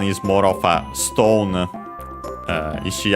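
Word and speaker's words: 石: Ishi accent on the last syllable, by the way, just like Iwa, also accent on the last syllable.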